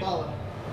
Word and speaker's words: Zabaia: How do you pronounce the last name? Zabaia.